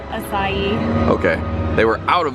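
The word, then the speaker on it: açaí: there was none of the asia berry bowls i believe that's how you say it isn't it i i just had to look it up so many times how do you say it acai okay they were out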